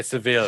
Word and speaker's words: Sevilla: I'm going to say Sevilla, like the locals say. And sometimes you say it 3 different ways. And I'll say Seville because I'm reading it. So I'll say Seville.